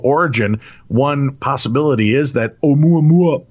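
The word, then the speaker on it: ʻOumuamua: Considering an artificial origin, one possibility is that Oumuamua, pronounced Oumuamua, as it says in the article, is a light sail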